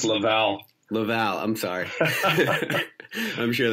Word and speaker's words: Laval: for you people with your American accent it's pronounced Laval Laval I'm sorry I'm sure that's not gonna